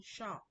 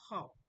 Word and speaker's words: Ho: You can see the pronounced on is ho, but in Chinese, just like the way they did my name, instead of the ho in Korea, it's now hao. Do you understand?